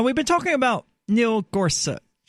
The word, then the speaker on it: Gorsuch: been talking about Neel Corsa it's so hard for me not to call him Korsak I mean simply because that is how I've always pronounced it I thought that's what it was he does suck but